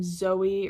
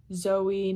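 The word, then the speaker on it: Zoë: And what it does is it distinguishes that there are two separate vowel sounds there. So, you would say Zoey, not Zo.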